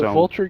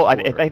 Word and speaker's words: Vultur: Is it Vulture Gaming? Is it people? Vultur? It's probably Vultur. I'll stop pronouncing it Vulture just because I think you're right, actually.